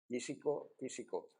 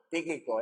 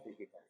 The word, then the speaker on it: Tíquico: que no ¿cómo se dice uno que es tísico? No, Tíquico, esto se llama Tíquico.